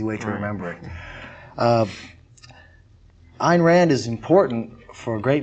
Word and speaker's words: Ayn Rand: many people mispronounce as an Rand it's it's not pronounced an it's pronounced a and rhymes with mine it's easy way to remember it uh Ein Rand is important for a